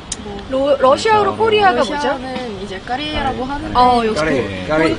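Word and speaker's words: Корея: 러시아는 이제 까레이아라고 하는데 역시 까레이. 본 통발음 한 번 더 얘기해 주세요.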